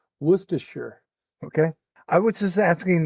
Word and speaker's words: Worcestershire: So, it's Woostershire sauce. And I don't think it's shire. It's not Worcestershire. That's It's Woostershire.